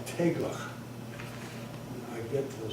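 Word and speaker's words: teiglach: It's Tegla? It's called teglach. Tegla. Do you know how to spell it?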